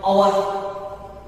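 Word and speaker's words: hour: For example, our. Can you know that? But here H is silent.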